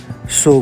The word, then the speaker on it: Tso: Ladakhi language में सो means lake और Tibetan language में सो मीन्स रिवर और हम लोग उसे लेक बोलते हैं। टी साइलेंट होता है, TSO नहीं बोलते, सो बोलते हैं।